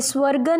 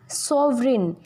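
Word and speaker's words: sovereign: ये स्वर्गन नहीं होता, सॉवरेन. इसको सॉवरेन प्रोनाउंस किया जाता है.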